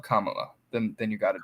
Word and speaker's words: Kamala: ways I call it Camila I know that song it's Kam M just just just rhyme it with Mom mamala Kamala then then you got